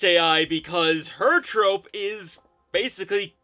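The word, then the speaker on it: Eiai: First, we have AI, and that is spelled E-I-A-I. It's pronounced AI because her trope is basically kudere.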